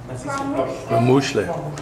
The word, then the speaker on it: KwaMuhle: I say it KwaMuhle, but how do you say it? I KwaMuhle.